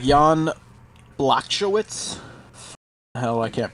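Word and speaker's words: Błachowicz: Sounds like Jan Blacko. No, there's no K. You don't say the K. It's like Blachowicz or something like that.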